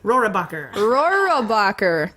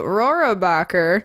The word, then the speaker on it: Rohrabacher: Rohrabacher. Thank you. Rohrabacher.